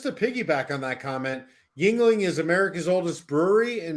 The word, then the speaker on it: Yuengling: i've never seen before it's actually pronounced ying ling but uh i think uh yuan ling is not from china